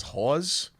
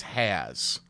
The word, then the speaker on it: Hawes: I mean, my mom's maiden name is Hawes, but people think it's Has, like Charlie or Haas, because it's Hawes. But I think the American will say Haas.